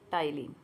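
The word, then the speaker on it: ptyalin: इसी का दूसरा नाम क्या होता है, टाइलिन। यहाँ पे आप ध्यान दोगे कि जो इसके नाम में है पी, वो क्या होता है, साइलेंट रहता है।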